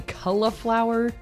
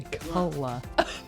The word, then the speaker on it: cauliflower: It is not cauliflower. Cauliflower. It is. It's an A and a U. Caw. Oh. Caw. Think of other words with an AU combo. How do you say it?